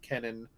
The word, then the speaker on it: Kenan: why do you let them call you Keenan instead of Kenan uh which is how your name is pronounced um as kenon goes